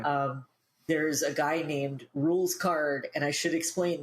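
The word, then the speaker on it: Rouxls Kaard: and I should explain this name is spelled r o u x LS k a a r d so it does not look like it sounds but that's because it's like French as as we'll find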